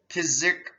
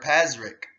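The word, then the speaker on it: Pazyryk: Finds at her burial complex do indeed indicate the maiden was an important member of the Pizrik people, and that's spelled, or Pazryk, P-A-Z-Y-R-Y-K.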